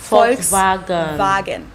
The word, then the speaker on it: Volkswagen: and not Volkswagen so just imagine that it was spelled with an f and V instead FKS vagen this literally means people's